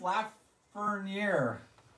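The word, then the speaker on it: Lafrenière: Alexis Lafreniere.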